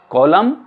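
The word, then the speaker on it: column: silent हो जाता है सी ओ एल यू एम एन ये हो गया आपका कॉलम यह एन साइलेंट हो जाता है डब्लू के बाद आर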